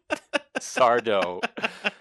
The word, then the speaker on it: Sardo: of the Dark with sardo no Mister Accent on the D and so she goes